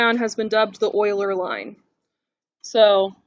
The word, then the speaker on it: Euler: Leonhard Euler, that's how you say his name.